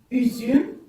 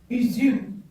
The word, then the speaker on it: üzüm: Il se prononce ici en langue turque U. Ça, c'est le U. U, comme exemple, j'ai mis üzüm, qui veut dire le raisin. U, üzüm.